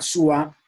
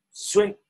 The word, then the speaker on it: Suá: Última está Suá, como se pronuncia en lengua, que en castellano lo pronuncian Sue.